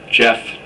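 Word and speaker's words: Geoff: Jeff. Spell your name. G E O FF. Okay. Now, why is your name spelled with a G instead of a J?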